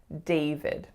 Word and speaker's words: David: So a lot of my clients see the letter A, so they tend to make more of a sound. And for the second syllable, they see the letter I, but it is in fact a schwa. So it's not David, it's David. David.